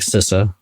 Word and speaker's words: CISA: and my favorite org sisa also called cisa by some of us um I'm mispronouncing